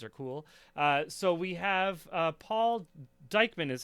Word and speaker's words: Diechmann: So we have Paul Diechmann is how I pronounce.